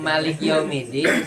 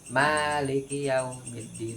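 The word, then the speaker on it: مالك يوم الدين: Nah, kalau yang Maliki Yaumiddin itu cara bacanya dua. Dia bisa panjang, bisa pendek. Kalau di Fatihah, kecuali di annas itu cuman satu kan panjang eh satu harakat annas. Nah, kalau kalau di Fatihah itu bisa dua cara baca, bisa Maliki yaumiddin, bisa Maliki yaumiddin.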